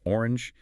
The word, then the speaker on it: 0R4NG3: That is pronounced orange.